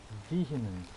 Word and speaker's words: vehemence: Vehemence. Oh, so that's how you pronounce it. Vehemence.